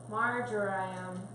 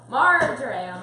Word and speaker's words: marjoram: Marjoram. Marjoram.